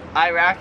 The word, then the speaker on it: Iraq: The next two are countries, so Iraq, we pronounce it Iraq. Here they pronounce it Iraq. Like we say I, they say Iraq, Iraq.